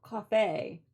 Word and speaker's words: Ko-fi: Ko-fi is it's pronounced according to Faye. Okay. Well, Coffee, Ko-fi.